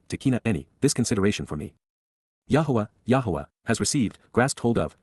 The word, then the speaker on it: Yahowah: Yahowah, the proper pronunciation of the name of Eloah, God as